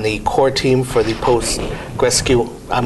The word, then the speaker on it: Postgres: I'm with Josh Berkus, who is on the core team for the PostgreSQL. I'm not going to pronounce it.